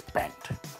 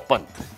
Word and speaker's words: Pant: I speak of nothing else but Lungi versus Pant, or Pant, to say it correctly, and Lungi, to say it actually correctly.